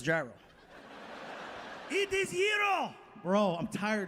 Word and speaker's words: gyro: It is gyro.